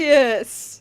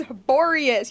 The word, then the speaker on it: Borius: Borious. It's Borious. Y'all saying it wrong.